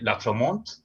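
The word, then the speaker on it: Lautréamont: El primero, el más conocido, es el conde de Latremont, como se pronuncia en francés, perdona mi francés.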